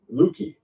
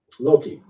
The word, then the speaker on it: Loki: the trickster God uh luki or how do you say his name uh Loki I'm sorry Loki the tree of